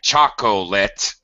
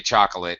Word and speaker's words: chocolate: comfortable we drop it same thing like a very clear like chocolate we don't say chocolate no English speaker says that we say chocolate we drop that middle syllable um okay and you